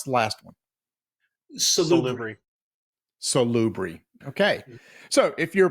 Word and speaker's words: Salubri: So how do you pronounce the last one? Salubri.